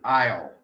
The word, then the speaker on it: aisle: It is pronounced I, as in the English word aisle, E-I-S-L-E. Don't ask me why S is in there, but we have silent letters in the English language written.